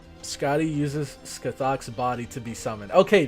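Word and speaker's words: Scáthach: Scotty uses Scathok's body to be summoned. Okay, that makes sense. Scotty uses Scathok's body to be summoned. Okay. Pronounced Skyhawk.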